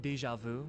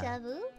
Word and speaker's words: déjà vu: You guys know, like, when you say, "Oh wow, I'm having déjà vu," yes.